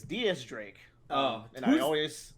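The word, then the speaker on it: Diez Drake: next barrels and also it's not x drake it's diaz drake oh and i always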